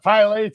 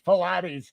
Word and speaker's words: Pilates: And you said, it's not Pilates, it's Pilates.